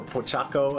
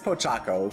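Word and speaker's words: Pochacco: Um your team Pochaco or I've heard people say it is Po or Pochakaco. I don't know. I don't know how to pronounce things because again, wait, no, it is Pochaco because I watched that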